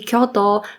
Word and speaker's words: Kyoto: deutschen Muttersprach beim Japanisch lernen ist die falsche Aussprache von J in Wörter wie Kyoto Tokyo und lokan und die Vokallängen z.B wird